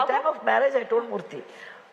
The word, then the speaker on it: Murty: Yeah, at the time of marriage, I told Murty, T-H-Y always gives the sound th. T-Y gives th. And so, my surname will be T-Y because it's nearer to the correct pronunciation.